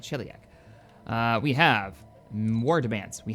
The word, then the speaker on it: Sheliak: Sheliak, that's how you say it, Sheliak.